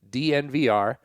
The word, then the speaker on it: DNVR: You would think it would be called Denver and they'd just say it like a tech company, but it's not. It's just DNVR.